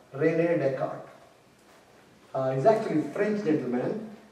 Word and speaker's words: Descartes: It sounds like Descartes, right? But it is actually Descartes. The way you pronounce that is Descartes. Descartes. Yeah. But because French pronunciations are different from English.